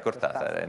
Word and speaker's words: Cortázar: Non a caso è lui che ci ha detto che bisogna pronunciare Cortázar.